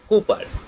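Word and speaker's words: Cowper: নাম হচ্ছে the snail, আর যেটা লিখেছেন উইলিয়াম কুপার। আমি কু বলছি, সি ও ইউ উচ্চারণটা কু উচ্চারণের মতো বলছি, তোমরা যদি পারো তো কৌপারও বলতে পারো, কৌপার, সি ও ডাব্লিউ পি আর, কোপার।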